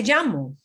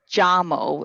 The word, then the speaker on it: llamo: Me llamo.